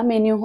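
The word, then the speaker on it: menu: उच्चार रिसीट असा होतो हॉटेलमध्ये गेल्यावर एम एनय चा उच्चार मेन न होता मेन्यू असा होतो याचा उच्चार निश असा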